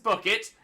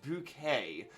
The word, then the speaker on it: Bouquet: sag uh is Gator the daughter of Mrs bucket it's bouquet it's bouquet good reference there please